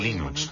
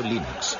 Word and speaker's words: Linux: La primera pregunta de la categoría fácil es, ¿cómo se pronuncia Linux? Bueno, yo Linux lo pronuncio Linux. Sin embargo, si fuese Linux Thorbals, no hay duda de que lo pronunciaría Linux. Claro que si uno es de la costa oeste de los Estados Unidos, lo más seguro es que lo pronunciaría Linux. Pero a Linux Torbals le importa un bledo cómo pronunciéis Linux siempre y cuando lo utilicéis.